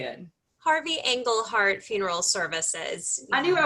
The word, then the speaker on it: Engelhardt: harvey england how do you say it harvey engle heart funeral services i knew i was gonna screw